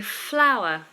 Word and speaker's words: flour: a rose is a flour they're both pronounced the same flour for bread making and flour ooh lovely